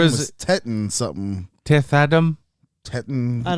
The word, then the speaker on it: Teth: I thought his name was Tetten something. Teth Adam? Tetten. I don't have a clue. Toth? Teth.